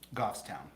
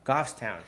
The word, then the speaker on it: Goffstown: ra being raised in new hampshire what's it pronounced the right word gough goffstown goffstown so is that a farm town is it